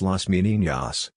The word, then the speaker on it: Las Meninas: Las Meninas, pronounced Las Meninas, Spanish for the Ladies in Waiting, is a